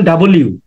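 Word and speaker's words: W: এগুলা একটু খেয়াল করতে হবে ও ডব্লিউ এর উচ্চারণ ডাবল ইউ আপনারা আবার ডাবল ইউ লিখে ফেলবেন না ডব্লিউ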